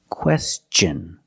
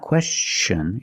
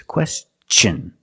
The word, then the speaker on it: question: With words like this, question. It's not question, it's question. Use the hard ch sound, because the T-I-O-N is after an S.